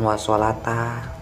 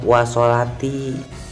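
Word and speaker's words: والصلاةِ: wasolata, katanya wasolata fiha, itu bukan wasolata, itu dibacanya wasolati, sebab jadi atof kepada mana? Kepada bidukhuli.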